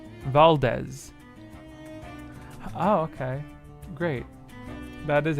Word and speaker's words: Valdez: is that good fabulous Val like valerant and Dez in Desmond Valdez oh okay great that